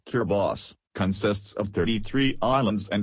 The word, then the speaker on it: Kiribati: location size and extent kir body pronounced kir boss consists of 33 islands